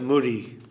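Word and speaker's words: mudi: chip rice yeah murray it's actually spelled m-u-d-i there's moody and there's chida they pronounce it murray there's muddy yeah which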